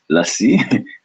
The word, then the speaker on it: lassi: love what not all love to drink but lassi for the lactose non-intolerant we like let's see